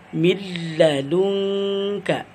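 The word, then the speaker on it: مِن لَّدُنكَ: Jadi cara membacanya milladunka, milladunka. Maka bacaan ini kita baca dengan tanpa digunakan atau tanpa didengungkan. Jadi dibaca tanpa panjang, tanpa digunakan atau dengan tanpa sengau.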